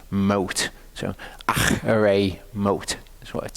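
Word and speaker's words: Acharei Mot: In Hebrew, I'm not going to go too much into this, but when you see a CH in Hebrew, don't pronounce it as a K sound. It's not a K sound.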